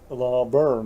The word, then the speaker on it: Laverne: Okay, Laverne, that's how it's pronounced.